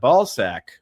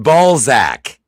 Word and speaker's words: Balzac: That is Elvirus at the bottom, and that's the Ayatollah Flat Coca-Cola right there, the ball sack of Leonard Nimoy. It's pronounced Balzac.